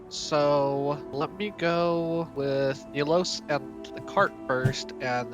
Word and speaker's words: Nilos: Also, not to be this guy, but it is pronounced Nilos.